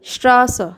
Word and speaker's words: Straße: Die Straße. S is followed by T. So it sounds like sure. Straße means street.